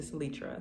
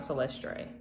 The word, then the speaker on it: Salitra: My name is not Celestre. My name is not Celestre or Celeste. My name is Salitra, Salitra.